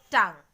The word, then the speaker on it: tongue: If you notice carefully, this silent letter is coming after the consonant G. G-U, G-U, G-U. Okay? So, be careful with the sound of U next time when it comes after the letter G. So, the pronunciation will be guide, guard and tongue.